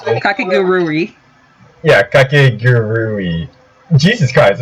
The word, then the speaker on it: Kakegurui: Yes, and it's Kakeguru. I think that's how you pronounce it. Kakegurui.